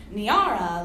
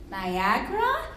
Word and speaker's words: Niara: Niara looks like Niara, Niara, Niara, Niara, Niara, and sometimes drips slowly and uncertainly out of mouths like Niagara? As if I've misspelled my own name without a G.